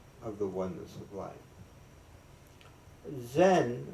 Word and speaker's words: Zen: Zen, which just a Japanese pronunciation of the Indian word jhana, means meditation.